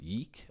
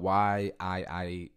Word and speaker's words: Yiik: I think it's pronounced Yiik, a postmodern RPG. It's spelled Y-I-I-K, but the way the font they used was really weird because the I-I looked like a U, so I think it's pronounced Yiik.